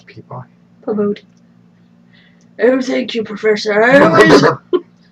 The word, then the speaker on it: Peabody: Is that how it's spelled in the book? Pabodi? Peabody.